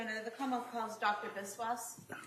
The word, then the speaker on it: Biswas: Yes, my name is Biswas. My first name is spelled J H I L A M.